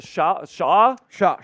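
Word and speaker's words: Chau: Shaw.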